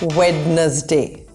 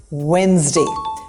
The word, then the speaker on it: Wednesday: This is not Wednesday. The D is not pronounced. It's just Wednesday. Skip the D and the rest is easy.